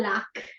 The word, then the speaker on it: lag: Noi diciamo un do al lac e con la C finale. In realtà si scrive lag con la G e la H.